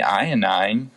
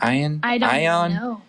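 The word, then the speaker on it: Iovine: they somehow stumbled upon jimmy ionine i think it's how you say his name ayan that guy yeah he's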